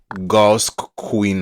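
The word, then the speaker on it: geauxqueen: The website is pronounced gaus queen.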